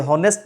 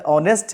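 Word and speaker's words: honest: तो यहाँ पे जो आर्टिकल आएगा ये हॉनेस्ट नहीं, क्या है, ऑनेस्ट है।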